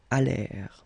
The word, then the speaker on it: allèrent: And then this ENT at the end, you know, mark for the plural, well, clearly you don't pronounce it, so you get allèrent.